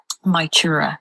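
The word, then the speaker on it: Mag Tuired: So it's not mag or anything like that. That's my. So like m y my chura.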